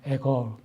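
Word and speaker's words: Agur: 아굴, 영어 발음은 에거 그러더라고요.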